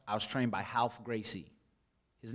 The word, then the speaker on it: Gracie: was trained by Ralph Gracie. His name is spelled like Ralph, but he's Brazilian. You say it like an H. You say the R's like H's. Ralph Gracie, the pit bull.